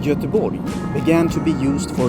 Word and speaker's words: Göteborg: we finally arrive in Gothenburg, or as we Swedes pronounce it, Göteborg.